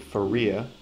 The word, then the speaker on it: Faria: pretty well Jake junis Shan Nukem and Jacob Faria and yes that is how you pronounce it according to baseball reference uh and